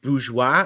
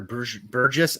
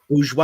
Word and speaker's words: Bourgeois: Jason Bourgeois or Burgess. I don't even know how to pronounce this guy's name. Bourgeois. I got it right the first time.